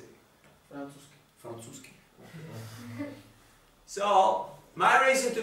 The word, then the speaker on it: Francúzsky: Francúzsky.